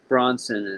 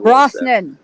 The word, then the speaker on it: Brosnan: Hey, what did you think about Pierce Bronson as 007? Brosnan. Jesus Christ.